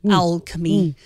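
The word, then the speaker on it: Owlchemy: I'm not just pronouncing Alchemy wrong. It's O WL like an owl. Alchemy.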